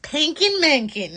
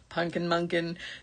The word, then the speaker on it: Punkin Munkin: And you have to say it like that. Otherwise, it's just Punkin Munkin. That's not cool. No, it's the little Pankin Mankin. You have to say it with the mom inflection.